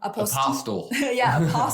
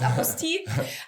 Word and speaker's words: apostille: I don't really know how to pronounce it, honestly, because I think it's French, but I've only heard it pronounced by English speakers. Yeah. Apostle. Apostle. Apostille, if it's in French.